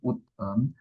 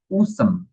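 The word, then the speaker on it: 웃음: Jadi bukan ut em, tapi S-nya ini naik ke bagian yang di sini. Jadi di sini bacanya usem.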